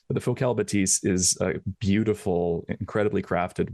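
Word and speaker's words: Bathys: It's spelled B- A T H YS. They're French, so a lot of a lot of us thought it was Ba'es before we found out how to how to say it properly.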